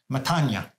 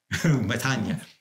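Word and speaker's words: μετάνοια: I heard a Greek priest, and I'm sure he's saying it better than I have, said it to you this morning, metanoia, metanoia. So that's how the Greek pronunciation is, change of heart.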